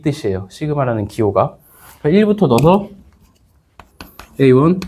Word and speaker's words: 시그마: 그래서 지난번 잠깐 얘기하긴 했지만 이제 이렇게 생긴 거죠. 시그마라고 읽어요.